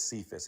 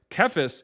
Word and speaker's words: Cephas: Cephas is not a like a Hebrew name. That's a Greek name, and C is pronounced as a hard C back then.